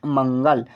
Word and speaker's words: मंगल: तो नेक्स्ट है यहाँ पर MANGAL, तो इसे पढ़ेंगे हम मंगल। एम से होता है मो, AN से अंक की मात्रा, जी से गो, ए साइलेंट रहेगा, एल से लॉ, हुआ मंगल। हैं HAIN, पढ़ेंगे हैं H